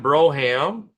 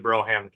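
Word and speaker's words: Brougham: John Broham, which I think I'm pronouncing that right. That's how we would always pronounce the Fleetwood Broham Cadillac, right?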